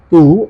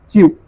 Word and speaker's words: tu: Some people pronounce it as tu in the beginning, of course, but if you pay attention, it is tu.